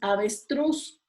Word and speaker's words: avestruz: Después, avestruz. Igual, truz es la sílaba que suena más fuerte.